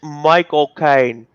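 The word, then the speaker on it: Michael Caine: 32 minutes so uh i think you said his name wrong the butler it's michael kaine i think that i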